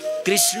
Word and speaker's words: कृष्ण: तर भन्न पो उच्चारण गर्न हो छ सबै सबै सबैले कृष्ण भन्न जान्दैनन् कसैले कृष्ण भन्छन कसैले कृष्ण भन्छन कसैले किशन भन्छन वास्तविक कृष्ण त्यो ण छ र क को ऋडण बोल कृष्ण कन्हैया लालको जय जय